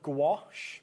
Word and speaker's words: gouache: I I'm big fan of gouache. Yeah. Not just because it rhymes with my name, although if I do ever bring out my own, I'm calling it gouache.